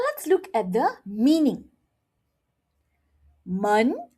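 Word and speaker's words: 门: men men Okay. Now, let's look at the meaning. men second tone it means door men fourth tone it means boring Hear that?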